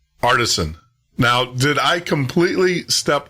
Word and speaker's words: Aartsen: My family name is pronounced Aartsen. So you're really very close. Aartsen. Okay, I got that. Aartsen.